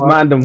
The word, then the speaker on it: Mandem: He said Mans. We know it is Mandem. He said Mans. The Mandem. It's Mandem. Shout out to my boy Karma OV. Shout out to the Mandem. Tottenham. The British say Mandem.